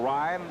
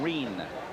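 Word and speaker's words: Rein: Russell Ryan, a junior from Oakland, Illinois. Correction, Reen. R-E-I-N is the way the name is spelled.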